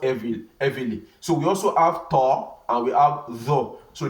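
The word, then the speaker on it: ط: So we also have ta and we have the. So this is ta. Ta. This ta now, the way it is pronounced, it is heavy from the throat.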